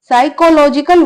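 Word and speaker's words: psychological: का के की साइकोलॉजिकल साइकोलॉजिकल वर्ड में पी साइलेंट होता है ठीक है लेकिन पी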